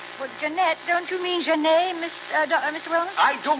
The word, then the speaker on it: Jeanette: Well, Jeanette, don't you mean Genet, Mr. Wellman? I do not. I said Jeanette, and I mean Jeanette. Oh, that's right, French. Don't pronounce the T unless it's feminine has an E.